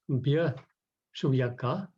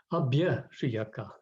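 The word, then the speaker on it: abhyasūyaka: It's been pronounced Bya Shuyaka, but actually it's Abhya Shuyaka, the negation.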